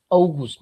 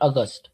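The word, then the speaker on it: August: बाय वन यूनी यूली अवगुस्ट अवगुस्ट नॉट अगस्त इट इज़ अस्टपेंबर October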